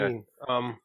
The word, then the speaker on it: Wein: I believe it's pronounced okay. Ween. I'm sure someone will correct me if I'm wrong. Yep. It's Ween? It's okay, Ween. See?